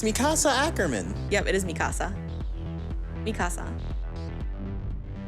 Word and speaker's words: Mikasa Ackerman: that is how you say her name it's mikasa ackerman yep it is mikasa mikasa that was about